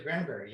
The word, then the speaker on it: Granbury: that down wrong so I had did I pronounce that right wrong Granbury yeah it is Granbury yeah Granbury yeah down a little suburb of